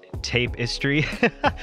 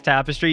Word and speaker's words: tapestry: I used to think that tapestry was pronounced tape-istry, but found out it was tapestry.